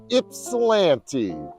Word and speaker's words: Ypsilanti: do when talking about Ypsilanti Michigan is telling you or showing you how to pronounce it just take that why and make it an eye and it's Ypsilanti so that's the first